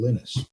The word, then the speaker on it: Linus: Linux was created in 1991 from the vision of a young student from Finland named Lennis Torvalds and he does pronounce his name Linus.